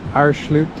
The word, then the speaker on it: Aareschlucht: So here we are, we're at the Aareschlucht. That's how you pronounce it.